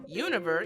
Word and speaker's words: Junyver: way here's my id they usually call me juniper the second version univer is for those who find it easier to combine two letters into one than to pronounce them all to the point i hope